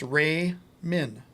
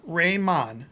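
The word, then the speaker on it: Ramin: name is spell is pronounced Ray Min just like it looks it's not Raymond he's not Jamaican and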